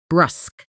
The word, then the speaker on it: brusque: Pronunciation. Brusk. Brusque. It rhymes with dusk.